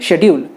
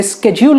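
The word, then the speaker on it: schedule: For example शेड्यूल, हम India में इसे शेड्यूल ही कहते हैं लेकिन यूएस में इसे स्केड्यूल कहते हैं, जो कि बिल्कुल ही अलग है।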